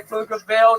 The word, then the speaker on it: Pflugerville: When I say Pflugerville, the P is silent. Thank you.